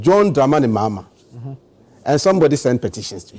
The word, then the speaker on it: John Dramani Mahama: But we have a new president and his name is different and it's not pronounced Akufo-Addo, it's pronounced John Dramani Mahama.